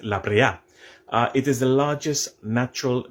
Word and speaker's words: La Brea: Number 3, the Libre Pitch Lake. In Trinidad, we say Libre, but it's a Spanish word, and I'm pretty sure the correct pronunciation is La Brea.